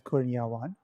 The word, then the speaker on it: Kurniawan: I would pronounce it as Kurniawan. Which is actually how it's written.